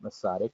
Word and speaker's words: Masaryk: So as we heard, Alice Garik Masaryk, the daughter of President Masaryk, and I'm pronouncing it correctly because my mother was born